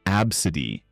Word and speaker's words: ABCDE: naming their kid ABCDE, pronounced absid.